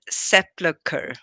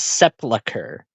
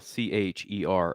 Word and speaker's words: sepulcher: You said sepulcher. He pronounces it as sepulcher.